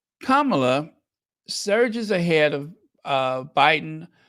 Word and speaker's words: Kamala: Kamala Kama Kamala yes you pronounce it Kama like Kama uh Kamala surges ahead of uh